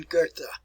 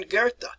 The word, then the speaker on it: Goethe: So here's a way to properly pronounce his name: Johann Wolfgang von Goethe. All right. Work on your pronunciation. Johann Wolfgang von Goethe.